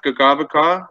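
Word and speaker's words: Kakabeka: got a road named, it's Kakabika is how it's spelled, and there's also Kakabika Provincial Parkway up north. It should be pronounced Gagavaka, but that, it doesn't mean waterfalls, but it's kind of about stepped falls.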